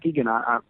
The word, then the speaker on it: Muskegon: I've been honestly really been digging it, especially the track "Ghost of Muskegon." Is that how you pronounce that? Oh yeah. That's a great track, man. Muskegon, oh, thank you so much.